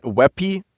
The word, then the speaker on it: WebP: Please use webpy. That's how it's pronounced.